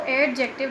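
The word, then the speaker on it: adjective: अच्छा, इसमें आप डी को जो है नहीं पढ़ेंगे, डी को साइलेंट लेंगे, इसको एडजेक्टिव नहीं बल्कि एडजेक्टिव प्रोनाउंस करेंगे।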